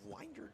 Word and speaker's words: Winder: Chris McKean from uh I believe Winder, Georgia. Is that right? It is Winder, yes sir. Yes, it's not Winder. No, I looked it up and it's Winder and so phonetically spelled it in my notes.